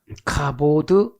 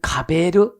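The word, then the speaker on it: כבוד: 카보드. 어떤 때는 카베르. 두 가지로 발음을 해요.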